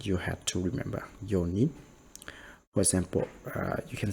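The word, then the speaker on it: 四人: be like 4 people, yonin. So they don't say yon nin or yon hito, and they don't say shi nin, right? So they just say yo nin.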